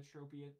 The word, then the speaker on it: Tropius: I guess I should start pronouncing it like Tropius. That's technically, because it's supposed to be like tropical, you know?